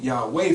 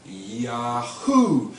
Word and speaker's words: Yahweh: men, get the pronunciation Yahweh from. Now in this I-A-O-U-E you will find no W. There is no W sound. What you will find is Yahoo, and those represent the